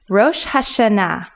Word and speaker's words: Rosh Hashanah: the italics english that the last three letters nah are in bold print that is the accent for this word that means rather than saying rosh hashanah we're going to pronounce